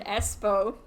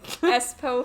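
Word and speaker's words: Espoo: so our guy is 41 um born in espo which i had to look up the pronunciation because um i did spell s pooh sounds like my coffee right you see espo finland's wild yeah nice um and i mean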